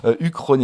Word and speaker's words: Uchronia: trouver donc ça s'appelle ça s'écrit huronia quoi mais ça se prononce évidemment uchronie ya moi j'aime beaucoup